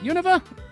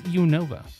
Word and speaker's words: Unova: than the up way I pronounce it. Univa. That's That's That's a perfectly chromulent pronunciation. It's It's Unova, man.